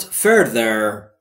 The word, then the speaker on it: further: I count further. I count یعنی من می شمارم. Further با تلفظ درست th به این صورت ذ زبونتون زیر دندونهای نیش بالا سعی می کنید بگید ز ز زهره. Further.